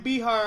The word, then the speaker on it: Bihar: I got my I got my buddy Bihar on the line hey did I get your